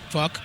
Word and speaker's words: Phuq: They have an album called PHUQ, which is pronounced... Fuck.